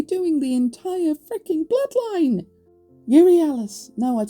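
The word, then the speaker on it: Euryalus: I pronounced it Urielis, but it's not. It's Urialis.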